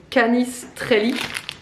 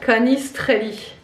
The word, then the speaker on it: canistrelli: bonbon n'importe quoi de Canis Trelly voilà les Corses sont de quoi je parle c'est des spécialités évidemment pardon ça on prononce mal ouais canistrelli Iten comme des petits